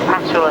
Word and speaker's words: Pachol: Pachol as I'm told I should pronounce it.